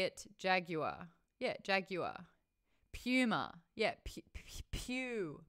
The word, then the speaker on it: Puma: Puma. Yeah, Puma. Pew, pew, pew, Puma. Not Puma. It's not Puma. It's not like your mum did a turd. It's not Puma. It's Puma.